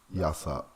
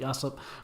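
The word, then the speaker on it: Yasopp: Yasop. Oh, that's how you say it, Yasop.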